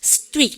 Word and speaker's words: street: 여러분들 이럴 때 발음할 때 street입니까? street.